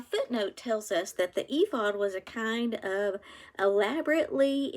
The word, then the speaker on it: ephod: The next part of this chapter talks about something called I think if this is pronounced ephod, it's EPHOD, design of the ephod.